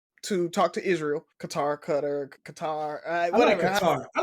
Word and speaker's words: Qatar: A lot of the military guys they call it cutter for some reason. I don't know. But uh I heard it pronounced that way too though.